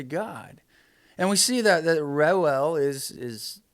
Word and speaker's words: Reuel: Kind of on a different note, let's talk about Moses' father-in-law, Reuel, or Jethro, as he's later called. The name Reuel, it's spelled, if you're listening, Reuel.